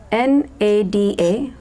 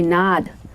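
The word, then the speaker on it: nāda: the parenthesis it said n a da which I from pronounced in my head nada which actually supposed to be nod nod means sound in Sanskrit language but I read it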